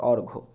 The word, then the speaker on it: অর্ঘ: কোন পরিবর্তন হবে না অর্থাৎ অর্ঘ উচ্চারণটা অর্ঘর থেকে যাবে অর্ঘ এটা আপনাদের বইয়ে কবি